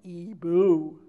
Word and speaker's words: Igbo: It's an Igbo name, isn't it? She pronounced it Ibu.